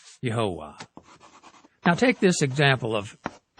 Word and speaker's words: Yahweh: all together in Hebrew the three syllable tetraman would have been pronounced yahovah now take this example